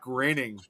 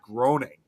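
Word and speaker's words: Groening: I was It's kind of like similar with uh Matt Graining, you know, of the Simpsons. And a lot of people always thought his last name was supposed to be pronounced Matt Grooning.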